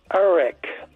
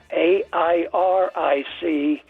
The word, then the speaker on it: Eric: A proper name that gets butchered is Eric. E R I C becomes Airic. A I R I C Airic.